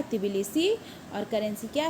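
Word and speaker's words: Tbilisi: तिबिलिसी। बिलिसी, तिबिलिसी, तिबिलिसी। इससे क्या है, स्पेलिंग भी आपकी गलत नहीं होगी अगर टी लगाएंगे आगे, तो तिबिलिसी, तिबिलिसी, तिबिलिसी, तिबिलिसी।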